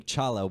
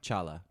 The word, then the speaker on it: T'Challa: a fictional country, and certainly not because King T'Challa won't investigate Joe Biden. That was good. T'Challa. Did I say it right? T'Challa. T'Challa. T'Challa. Chala.